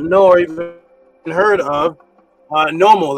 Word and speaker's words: Nommo: The answer is, when you hear the word Nommo, Nommo, it's pronounced different ways. Nommo, NEMU, NOMMO. It's pronounced different ways because in the ancient languages, certain of those vowel sounds are not specific.